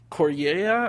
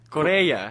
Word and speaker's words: Correia: say say try it it's Cora it's c o r re e i a Korea Korea Cora what did you say